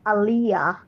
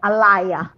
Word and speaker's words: Aliyah: pronounce it's your name I know it's Aaliyah but some people call it Alaya like like a record